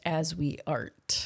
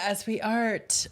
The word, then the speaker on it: Asweart: And in this No, it's pronounced as we art. Yeah, as we art.